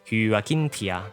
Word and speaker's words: Hyacinthia: And one more time, Hyacinthia. Also, I think her nickname is actually just pronounced as Hyacinth since it's an anglicized form of her real name.